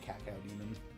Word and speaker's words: cacodemon: Which I also hear some people pronounce it cacao demon. Cow. Cacao. Like the bean? Yeah. I always pronounce it as cacodemon.